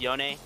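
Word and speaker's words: Yone: in game Yasuo um his brother actually has a voice line where he refers to him as yon so I guess that would be the correct pronunciation of it I guess yeah probably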